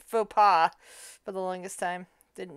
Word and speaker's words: faux pas: It took me forever to realize that's what people the word written was what was pronounced faux pas for the longest time.